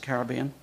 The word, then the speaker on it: Caribbean: United States and the Caribbean. Some people pronounce it Caribbean.